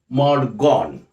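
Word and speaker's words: Maud Gonne: poet was in love with a girl called mod gone m a u d g o n n e but don't pronounce it as guani usually john don that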